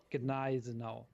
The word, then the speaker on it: Gneisenau: The Tier 7 battleship is called Gneisenau. Whoa. So the G is not silent like everybody's currently debating.